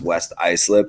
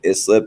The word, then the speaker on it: West Islip: from today's story pat it's pronounced west islip it's actually a town about 10 minutes from where i grew up you said islip but that's that's neither